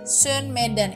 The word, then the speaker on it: sönmeden: kemudian bat yang kedua itu kan ada tulisan Sun meden itu kan sama ya o-ya titik du ya jadinya bacanya Sun meden itu sebenarnya tulisnya meden Ya Son meden jangan bilang meden ya tapi orang Turki